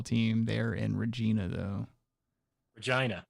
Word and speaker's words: Regina: Regina. It's Regina. I already said it. It's actually how it's pronounced.